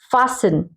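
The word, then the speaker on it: fasten: जैसे ये देखिए फासन, अब टी ई एन है पीछे, ये देखिए, अब हम टी को नहीं पढ़ेंगे, हम एन का साउंड देंगे, FASEN, फासन।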